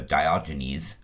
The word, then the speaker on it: Diogenes: if it ever was popularized by do gymnast or Diogenes as he's commonly referred to and I will generally refer to him as because explaining each video a deal gymnast and the appropriate Greek pronunciation just seems redundant so when I do a video about him your vote more about that and him but in general reference it'll be Diogenes he is the founder of